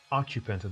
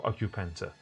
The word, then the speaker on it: occupant: the apartment so occupant occupant the a stress is put on the first syllable now the noun form of occupant is there any aess